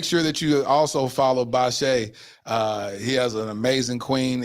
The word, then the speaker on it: Bashea: And like I said, I really didn't know how to pronounce his name. It's okay. Thank you. It's Bashea.